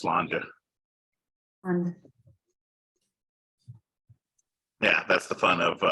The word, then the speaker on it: Sláinte: For anyone who said Slante, whoever it was, just FYI, it's spelled that way, but it's pronounced Slanja.